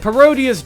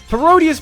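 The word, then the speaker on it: Parodius: There's a reason why it rhymes with Gradius. It's even made by the same company. Barodius basically changes the palettes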